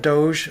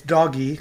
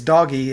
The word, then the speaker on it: DOGE: refuse to call it Doge uh it's doggy because G has a g sound so it's doggy if you want to